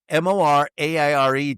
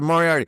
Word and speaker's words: Moriarty: Still, Moriare, you pronounce it Moriarty.